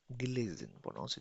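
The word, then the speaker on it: gelesen: पढ़ चुकना पढ़ चुकना या पढ़ चुके होना गिलेजन गिलेजन गिलेजन देन प्रेजेंस सबसे पहले प्रेजेंस यानी प्रेजेंट की बात करते हैं।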